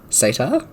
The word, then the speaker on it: satyr: Satyr?